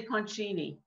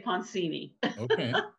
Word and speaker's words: Poncini: been mispronouncing your surname do you say ponchini in in italy you say ponchini yeah and you like it californians you say poncini the punching is the real way is the real way